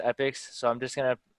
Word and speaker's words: epochs: uh well everybody put like everybody at tams pronounces it epochs but i searched it up and this pronounced epics so i'm just gonna pronounce it that way